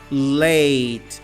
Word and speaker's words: late: Late, atrasado, late. Você começa a entrar no som do T e corta.